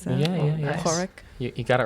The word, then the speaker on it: Poruk: Did you notice how I pronounce that? Yeah. nice. Poruk.